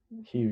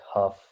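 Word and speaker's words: Hough: like the Hugh space or the however Aaron pronounces it. Hugh, you got it right. Yeah, the Hugh space. Yeah, the guy pronounces it like Huff.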